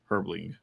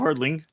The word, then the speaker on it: Herdling: Herbling. No, herdling. I said it right.